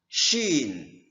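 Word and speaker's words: شين: Nah, penyebutan huruf shin seperti Anda mengusir peliharaan Anda, misalnya binatang yang masuk ke dalam rumah, kita mengharap binatang itu keluar. Kita usir. Nah, penyebutan itu kita sebutkan dalam huruf shin.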